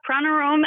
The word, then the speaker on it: Pranarom: a kind of an unusual name there yeah pranom actually is how it's pronounced though you can say it however you